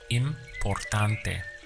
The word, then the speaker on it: importante: To express the word important would be importante. Let's count the syllables. We have im, por, tan, te. Importante.